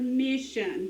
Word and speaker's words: mission: to know the word mission to get it done so my turn mission final stable syllable s-i-o-n shun again mission final stable syllable